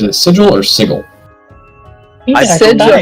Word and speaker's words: Sigil: I Sigil. believe it's a soft G.